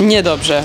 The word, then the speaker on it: Niedobrze: Niedobrze.